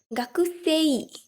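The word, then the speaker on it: 学生: as kakuste not literally gakusei but when you pronounce them together it's like the pronunciation is very different than the hiragana characters so the u sound in the letter ku is not pronounced it's simply g sound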